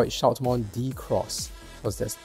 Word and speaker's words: Shoutmon DX: to the meaning of deluxe right so it's Shoutmon Deluxe but you know we call it Shoutmon Shoutmon